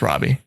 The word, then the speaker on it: Robbie: to pronounce her name I think she says Roby but she's an Australian accent and she's also wrong so yeah it's Robbie Oh Mario rebbe okay